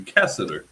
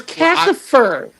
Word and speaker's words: Cassifer: He called you Cassador. Yeah. What is with that? It is Cassifer.